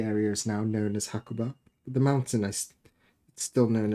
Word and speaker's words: Hakuba: I think the modern pronunciation is Hakuba. The area is now known as Hakoba.